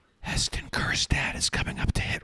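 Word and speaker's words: Kjerstad: simply weren't fast enough here's hon kirad remember the J is silent eston Kad is coming up to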